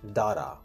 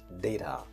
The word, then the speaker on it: data: Some people pronounce it as data, but it is incorrect. The correct pronunciation for the word is data.